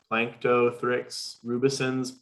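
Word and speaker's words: Planktothrix rubescens: fairly specific one have you seen winter spring plankto thricks rubicins blooms in any of the volunteer monitor lakes and i may have mispronounced that yeah no you got it and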